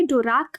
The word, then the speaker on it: Dvorak: अब इनके बारे में देखिए, डोराक, इनको प्रोनाउंस ऐसे करना है डोराक, और मीट्रियोलॉजिस्ट थे, और ये टेक्निक इन्होंने अर्ली 1970s में ही बना दी थी।